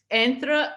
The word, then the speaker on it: entre: say it correctly, is the Portuguese word for between, which, how do you pronounce it? Entre. So I always say it French now, and then I had to kind of really try to start saying it in Portuguese again, but then sometimes the